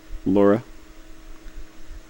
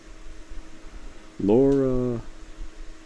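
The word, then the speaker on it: Lara: You say her name like it's spelled. Laura. Laura.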